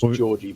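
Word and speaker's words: Đorđe: It's Georgie, by the way, is how you say his first name. Georgie?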